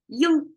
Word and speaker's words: 鹰: we go um eego y is how Chinese pronounce it you have to make it a flat tone I found non non-chinese